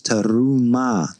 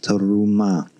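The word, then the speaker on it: תרומה: I, one of the best way to articulate resh is that you got to learn to roll your R's. So some people find this quite difficult. Some people find it very easy. So it's terumah, terumah.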